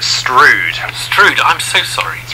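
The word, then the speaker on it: Strood: There are, and we usually pronounce it Stroud.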